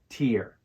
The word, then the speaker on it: tear: the word tear is think of the letter T and then add the word ear so we have tear this rhymes with words